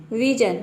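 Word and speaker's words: vision: है निर्णय तो देखिए यहां पे विजन और डिसीजन ये दो ऐसा वर्ड है जहां पे हम जन प्रोनाउंस कर रहे हैं एस आई ओ एन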